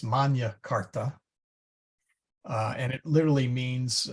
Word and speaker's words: Magna Carta: be great uh the Magna Carta unfortunately that's pronounced as if it were an English word and it is in fact actually Latin uh it should really be pronounced Manya Carta uh and it literally